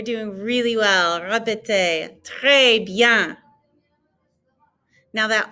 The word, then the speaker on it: bien: And then notice that the ES ending has an A sound. And so it's très bien. We're not pronouncing the N on bien either. It kind of gets muffled, like you're about to do the N sound, but you don't.